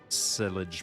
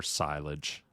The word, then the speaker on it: silage: standard brain body work sillage bodywork or silage we have a big uh conspiracy on how to pronounce sillage or silage so i say it both ways all right wheel brands